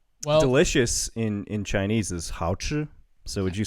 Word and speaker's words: 好吃: Well, delicious in Chinese is 好吃. So would you say this one is 好吃? How do you say it? 好吃? 好, like 你好, 好. 好. And then 吃.